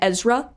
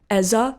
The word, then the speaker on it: Ezra: Like one of our teachers read the name Ezra and assumed it was pronounced like Eza or something. It was like, oh, well, the R's not silent.